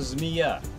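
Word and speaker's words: змея: Russian zmiya.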